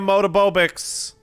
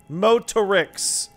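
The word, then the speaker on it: Motorics: Come on, guys, give me a Motobobix. Give me a Motobobix. How's it pronounced? Motorix. Oh, that's much easier than what I've been saying.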